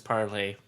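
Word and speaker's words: Parler: e are of course most people are pronouncing at parlor so from what I understand it's partly doesn't matter that's still very much alive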